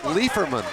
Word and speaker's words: Liefermann: major by all rights his last name really should be pronounced liefermann the huskies